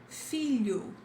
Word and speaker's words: filho: This is like l, l. Then, for example, when we say the word million, it's pretty similar to that. Million, this l. Okay, trabalha, something like this. We have filho, filho, filho. Do you see this fil with you? But you put it together.